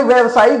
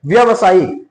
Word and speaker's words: व्यावसायिक: उच्चारण ही है। व्यवसायिक ये सही नहीं है। आ इसका सही वर्तनी क्या है? आपको व्यावसायिक व्यावसायिक ठीक है? देखिए यहां पर एक मात्रा की कमी है।